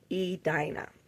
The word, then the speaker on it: Edina: Edina, I think is what I was saying before, but it's Edina is how you pronounce it.